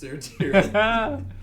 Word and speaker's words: Sertiran: I can promise you how it's written in my notes. It's pronounced Sertiran.